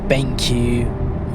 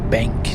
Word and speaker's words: BenQ: Acer, Asus with their Republic of Gamers, MSI, Gigabyte, BenQ, or Benk, depending on how you want to pronounce it, AOC, all make good monitors.